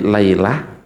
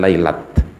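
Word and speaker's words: ليلة: Maksudnya sami lailah tak niku mboten tak ditulis hak nggih. Karena itu hak ta'nits, namanya hak ta'nits. Makanya bacanya ketika wakaf lailah bukan lailat.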